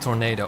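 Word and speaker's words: Toronado: It's a Tornado. It's not tornado, but it's called a Tornado Okay. because there's an A in there. Okay. I also made a mistake of calling it Oldsmobile Tornado at first.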